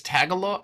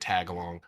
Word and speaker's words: Tagalog: I know it's not Philippines. It's Tagalog. How do you say it? Okay, because I've been calling it Tagalong for like 5 years.